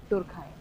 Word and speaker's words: Durkheim: तो ये जो है कट्स बोलते हैं इमाइल डुरखाइम इमाइल डरखाइम इस तरीके का नहीं है। इसका प्रोनंसिएशन है इमिल डुरखाइम इमिल इमिल डुरखाइम जल्दी आइए।